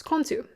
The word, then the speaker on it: Khonsu: Now let me go ahead and look at this pronunciation to make sure I got this close. Khonsu.